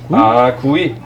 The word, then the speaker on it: 귀: 제가 이태원에 오래 살았는데 이제 외국인 친구들이 이제 발음이 좀 어려우니까 맨날 귀 부르다 구이, 보니까 구이.